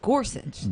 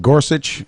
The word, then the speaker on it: Gorsuch: level and we you and I have trouble pronouncing his name you just want Mike to tell you how to pronoun it's Gorsuch Gorsuch okay we're practicing we're practicing it here but